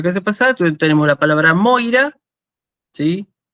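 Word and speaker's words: Μοῖρα: Después tenemos el diptongo oi, que se pronuncia así, hoy. Entonces tenemos la palabra, como ya lo vimos la clase pasada, tenemos la palabra Moira, ¿sí?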